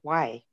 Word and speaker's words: way: passed the word to um robin greetings all why why is from my salish language syrax okanagan and it's spelled w-a-y it's more than hi it's welcome